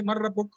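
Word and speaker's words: من ربك: But normally when the Arabs will talk, they'll say Mar Rabbuk, Ma Ismuk, that way. So they will put a sukun at the end.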